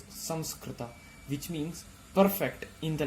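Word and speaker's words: Saṃskṛta: For example, it is this actually pronunciation is Samskrita, which means perfect in the language.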